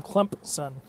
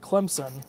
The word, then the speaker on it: Clemson: be the big question I can't stand when people call them clump son well that that's how you say it if anybody calls it Clemson like with a Z it sounds like a Z instead of a P they're saying it wrong if you're from here you call it Clemson it's just the way